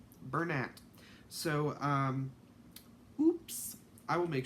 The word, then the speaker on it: Bernat: I thought it was French and it was pronounced burn aid I watched a video from somebody who is actually like a person in the company she was doing a pom-pom tutorial and it's pronounced burn ant Burnett so oops I will make sure that I